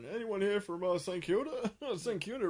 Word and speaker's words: St Kilda: St Kilda rhymes with Tilda.